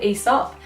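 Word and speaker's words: Aesop: love and it's called ESOP and even though it starts with an a that is silent I recently just figured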